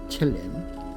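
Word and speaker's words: צלם: 형상이라는 히브리어 첼렘입니다. 첼렘이라고 읽습니다.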